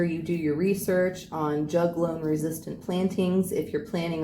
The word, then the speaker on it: juglone: Juglone, I believe, is how the toxin is pronounced, but what's important to